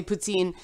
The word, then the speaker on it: poutine: don't say Ubisoft it's it's just the accent it's the same way we say put scene instead of poutine and Quebec instead of Quebec where a bilingual country and it impacts the English pronunciation of words sometimes but Troy Levitt who